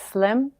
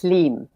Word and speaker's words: Slim: Okay, so first of all, my name sounds American because it's Slim, but it's actually pronounced Sleem.